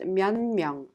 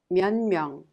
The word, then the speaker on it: 몇 명: Therefore it affects the previous sound the in is affected by the nature sound and it becomes neon and is pronounced 면명 면명.